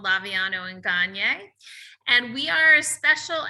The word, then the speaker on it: Gagne: So So today we've got a special guest, Gagne. welcome. Thank you. Thank you so much for having me. It's actually Gagne. Gagne, I apologize. That's okay. I always say it's Gagne like Kanye, and that's how people